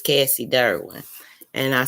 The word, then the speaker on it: Durwin: there is some cassidy's out there it's cassie derwin and i spell it out because d-u-r-w-i-n to me it's an